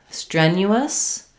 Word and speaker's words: strenuous: So in strenuous, we have the first syllable stress. Letter E says the like get. So first syllable stress, the sound, strenu. So this NU has a y sound in it. Strenu, not strenu. You, us, and then we have a schwa.